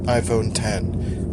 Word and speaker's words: iPhone X: It's spelled iPhone X, it's pronounced iPhone 10.